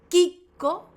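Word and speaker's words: chicco: Si vos agarrás un paquete de arroz en Italia dice Kiko.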